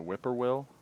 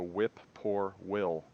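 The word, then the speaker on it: whip-poor-will: weird noise um but if you slow down the the name of the bird and you look at how it's spelled it's actually called a whip poor will as in whip poor will like whip a guy named will then we we've also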